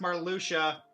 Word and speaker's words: Marluxia: Two organization members, Marluxia and Larxene, plan to use Naminé to wipe Sora's It's pronounced Marluxia.